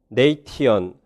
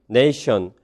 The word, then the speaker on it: nation: Native English speakers는 네이티언, 그레시어스 이렇게 발음하지 않는다. 대신에 그들은 nation, gracious 이렇게 발음하고 삐리리 컨저넌트가 펠리터라이즈드 되었다.